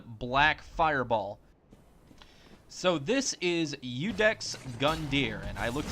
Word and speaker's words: Iudex: deep production and black Fireball so this is udex Gund Deere and I looked it up it is properly pronounced udex which stands for judge I guess you could